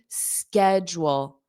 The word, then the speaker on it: schedule: Schedule, schedule, jewel, schedule, schedule, schedule. And then you just add a strong in front of it.